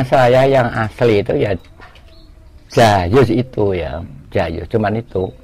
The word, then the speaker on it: Djajus: Itu nama saya yang asli itu ya Jayus itu ya, Jayus, cuman itu. Dengan ejaan lama itu ya?